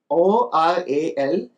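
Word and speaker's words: aural: O-R-A-L and A-U-R-A-L. Both have the same pronunciation.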